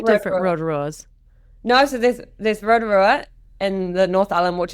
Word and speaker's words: Rotorua: No, so there's Rotorua in the North Island, which is actually pronounced Rotorua, and then there's one down the South Island called Lake Rotorua.